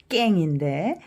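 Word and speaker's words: เก่ง: 그 말을 먼저 하겠어요 요거는 애 발음이고 얘는 받침이응이고 해서 깽인데 깽 일성이에요 일성은 제가 낮은 데서 더 아래로 내려간다 그랬죠 깽 깽 잘하다 아주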